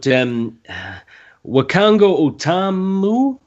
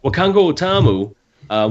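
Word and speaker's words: Wakanga O'tamu: Right, but Wakango Otamu? I know I said that wrong. Well, you see, I actually did say it wrong? Yeah, you got it right. Oh, I did. Oh, right. Wakango Otamu, we just came round his, and he suggested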